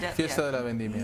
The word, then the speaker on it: Fiesta de la Vendimia: They also have the incredible the Fiesta de la Vendimia. Is that how you say it? Fiesta de la Vendimia.